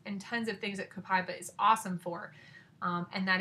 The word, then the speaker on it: copaiba: that I have from Young Living is copaiba copaiba has a couple of different ways you can pronounce it but that's how i'm going to